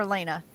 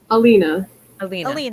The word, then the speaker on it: Alina: Like, okay, so am I saying it right, Alina or Elena? Alina. Alina. Yes. Alina.